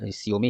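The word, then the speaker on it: Xiaomi: तो ये जियोमी, कुछ लोग इसको जियोमी बोलते हैं, मुझे सियोमी ही इसका प्रोनाउंसिएशन सही लगता है।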